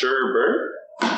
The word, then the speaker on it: sherbet: is sherbet that's right sherbet lime sherbet it's pronounced sherbert tomato our nice cocktail